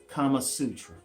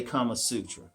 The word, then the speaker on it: Kama Sutra: indian pronounce it but some people call it kamasutra so it's like seriously if you go online and look for pronunciations you'll get kamasutra you'll get kama sutra and can't pronounce the indian pronunciation was kamma suter i can't get that one quite right but i'm not